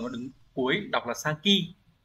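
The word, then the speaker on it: 先: đứng cuối đọc là Saki đọc là Saki để tạo ra từ ví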